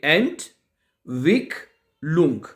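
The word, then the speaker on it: Entwicklung: एंट Wick लुंग।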